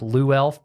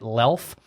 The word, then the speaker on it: Luelf: know it looks like Lou elf but the U is silent so you say it lelph but I mean people